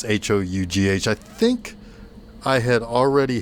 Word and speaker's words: Hough: But this is directed by John Ho, or Hoff, one or the other. It's Hough.